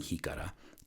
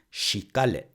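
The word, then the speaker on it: jícara: the original way the correct way of saying he Cara is she got it or she golly depending on your accent which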